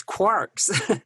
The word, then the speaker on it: quark: are connected through matter, through energy, through these quarks.